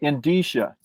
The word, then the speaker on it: indicia: Yeah, and we would call it the indicia. Indicia. Okay, I've been saying it wrong for 20 years. That's okay. Folks, if you're listening, the word is spelled like indicia with a C.